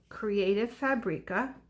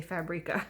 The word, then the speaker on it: Creative Fabrica: that I've discovered called Creative Fabrica. Or that's how I say it, creative, the word creative, and fabric with an A on end, and I say Fabrica.